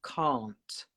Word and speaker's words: can't: Well, in English, British English, we would say can't and can. So that's the difference between American English and British English. In America, they would say can, can't, really similar sound. It's just a slight T on the end.